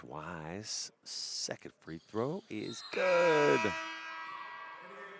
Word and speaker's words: Wise: And it's Wise.